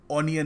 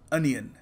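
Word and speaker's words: onion: इसकी correct pronunciation है सो याद रखिएगा ओनियन नहीं अनियन देखिए अगला शब्द है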